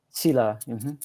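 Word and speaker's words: sīla: karma, and there's a concept called the 5 silas. Am I pronouncing that correctly? Sila, which is, how do you say it? Sila.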